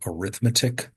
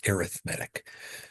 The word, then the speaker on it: arithmetic: you're doing something called arithmetic but when you use it as an adjective to describe something we pronounce it as arithmetic so as an adjective